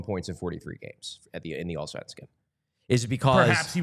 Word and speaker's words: Allsvenskan: The Allsvenskan? Allsvenskan.